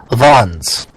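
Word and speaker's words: Wanz: name again it's Auto Vons Auto Vons AO what possible what what possible there's a w there not a v you pronounce it as a v because he's Austrian you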